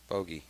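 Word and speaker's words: Hoge: last name rhymes with 1 over par on the hole. Hoagie.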